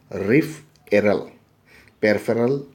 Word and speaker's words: peripheral: B n s and how we should pronounce this p NS so it is there it is a RIF aryl peripheral nervous system and this peripheral